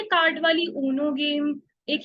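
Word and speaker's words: Uno: है, उसका नाम है ऊनो। अब मुझे बताओ, जब उसकी स्पेलिंग ये होती है तो उसको यूनो क्यों नहीं बोलते, ऊनो क्यों बोलते हैं?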